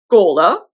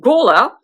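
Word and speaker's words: Gormflaith: One is named Gola. It is definitely not spelled that way, but that is how it is pronounced.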